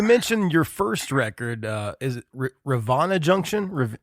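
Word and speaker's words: Rivanna Junction: um so you mentioned your first record is Ravana Junction how do you say that we say Ravana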